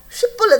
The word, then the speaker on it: 쉽볼렛: 발음을 해 보라고 하면은 에브라힘 사람들이 불릿이 안 나와 쌀라 그러면 안 나와 살 그래 그러니까 이제 쉽볼렛 하라 그러면 볼넷 그러는 거야 그래 가지고 4만